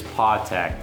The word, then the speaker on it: Patek: The right way to say it is Patek because Patek. Swiss French, or even in German, you would say the A like an A.